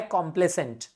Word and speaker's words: complaisant: So basically इधर pronunciation में ध्यान रखना. पहला वाला है कंप्लेसेंट. Okay, कंप्लेसेंट. दूसरा है कॉम्प्लेसेंट.